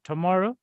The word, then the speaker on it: tomorrow: rule applies to tomorrow. Tomorrow, Just one Tomorrow. question. T-O-M-O. Tomorrow. So tomorrow. Tomorrow Same sound, has schwa sound. three syllables. Second Yeah. syllable stress.